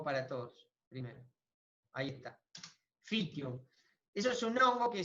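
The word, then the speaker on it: Pythium: Fitium.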